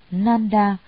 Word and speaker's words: Nanda: Ngài Nang Đà, Ấn Độ đọc là Nanda, chữ Hán là Khánh Hỷ, là em ruột của Phật.